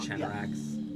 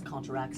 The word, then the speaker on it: Contrax: Yeah, I might have been pronouncing that Or wrong. Canarax. Yeah, it's Contrax.